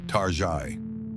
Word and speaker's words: Target: Consumers affectionately began pronouncing its name with a faux French accent, Tari.